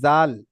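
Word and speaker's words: ذ: এবারে দেখেন এই জাল এই জালটা একদম পাতলা আওয়াজ জাল জাল জাল নরম ঝিরঝিরে জাল জাল একদম পাতলা ভাবে পড়তে হবে জল জি তারপরে দেখেন এই জাটা যা জাল আর জ জি জাল আজ যাটা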